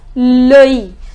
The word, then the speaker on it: l'œil: We pronounce it as l'œil. Now, here, we write O and E together. We mix it and the pronunciation becomes O. So it is OI and with this LOI.